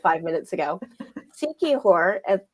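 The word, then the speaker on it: Siquijor: like five minutes ago seihor I'm probably saying it wrong is actually a town in the Philippines right it's a province a province and it's s i quu i j o r which if you say it slowly comes out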